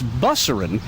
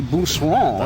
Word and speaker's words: Busseron: And one of the most popular streets down here is Busserin, which is actually Busseron, if it were pronounced correctly. That's right. But, of course, we moved everything over here and corrupted the pronunciation.